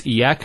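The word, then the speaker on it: إياك: Notice the ya gets a double vowel because of the Shaddah there. Iyaka. It's not iyaka, iyaka.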